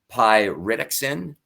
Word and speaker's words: pyridoxine: vitamins, and also the B6, which is it's pronounced pyridoxine.